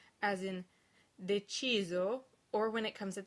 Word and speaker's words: deciso: S is pronounced Z when it's between two vowels within a word, as in deciso, or when it comes